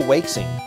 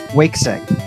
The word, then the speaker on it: Waixing: Gardman was created by, I have no idea how to pronounce this, Waixing. Oh, Wakesing. Wakesing, okay.